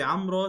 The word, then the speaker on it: عمرو: بس طيب انطق اسم عمرو صح الاول، بعدين الواو في عمرو تكتب ولا تنطق. عموما الفيديو كله بس طريقة نطق الاسم زعجتني. عمرو عمرو عمرو عمرو عمرو عمرو عمرو عمرو.